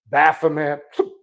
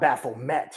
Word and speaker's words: Baphomet: It's not Baphomet. I know people pronounce it. It's Baphomet, Baphomet, Baphomet.